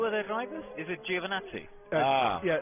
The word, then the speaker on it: Giovinazzi: between Crofty and Simon Lazenby on how to pronounce Antonio Giovinazzi's name. Are you Italian? I've asked him. It's Antonio Giovinazzi.